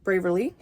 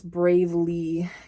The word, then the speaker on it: Bravely: bras are from Kindred braver Le or I'm sorry I would say braver Le it's bravely kindred bravely is how you pronounce it um but they have